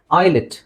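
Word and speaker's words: islet: okay next next ಇದು I again S ಸೈಲೆಂಟ್ ಐಲೆಟ್ ಐಲೆಟ್ ಇಲ್ ನೋಡಿ ಐಲೆಟ್ ಐಲೆಟ್ ಇದು ಎಸ್ ಸೈಲೆಂಟ್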